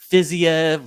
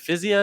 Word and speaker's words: Fiziev: pronunciations but you know i asked raphael how do you say your name i say is it physio and he's like yeah i think rafa is just like